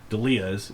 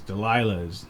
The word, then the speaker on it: Delia's: Is you have a lot of Spanish influence and other, Delia's is the how you pronounce it, but we get Delia's, Delilah's, Delia's.